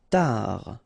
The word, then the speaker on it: tard: Tard. Final D not pronounced.